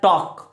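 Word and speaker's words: talk: में क्या आता है टॉक टॉक में एल साइलेंट होता है ध्यान रखना गाइस टॉक में क्या होता है एल साइलेंट टॉक लेकिन कभी-कभी स्पीक को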